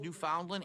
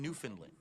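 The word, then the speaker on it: Newfoundland: walking around my house I've heard it both pronounced New Foundland and New Finland I've heard both I received two tips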